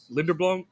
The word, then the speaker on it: Linderbaum: He missed all like Wirfs and I guess he played with Linderblom. How do you say the center's name? Linderbaum, yeah, Yeah.